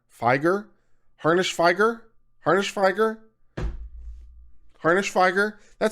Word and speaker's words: Harnishfeger: Harnish like harness with an ish. Harnish followed by Feiger. Feiger? Harnishfeger?